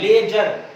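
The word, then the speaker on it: ledger: D silent होता है, लेजर।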